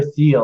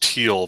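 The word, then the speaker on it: Thiel: but this guy Peter theel are you familiar with Peter the Alex I believe it's pronounced teal by the way oh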